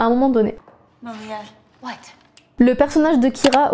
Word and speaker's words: Malia: Les acteurs ont eu énormément du mal à prononcer le prénom de Malia parce que même si pour nous en français